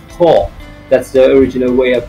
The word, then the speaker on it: Koch: throughout the video that I have been pronouncing the surname K-O-C-H as Koch. But as a matter of fact, some of my relatives who are living in Germany have kept me informed that the surname is to be pronounced as Koch.